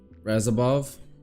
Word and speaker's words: Radzhabov: ] his name up pretty sure that's how you say it razov razov the D silent there we go much better